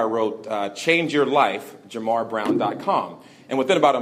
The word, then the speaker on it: JaMarr: about my name because people tend to call me Lamar and Jamal all the time but it's Jamar so I'm out there